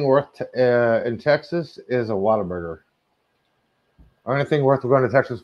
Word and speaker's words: Whataburger: The only thing worth in Texas is a Whataburger.